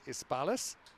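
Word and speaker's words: Hispalis: Yeah, was is looking out for Omar Malik, the captain of Madrid United, Isbalis. And I know you were wondering about Isbalis. Yeah, Spanish you don't really pronounce the H.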